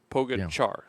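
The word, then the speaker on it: Pogačar: Actually, it's it's like Donich. It's spelled with the same C. So, Pogachar.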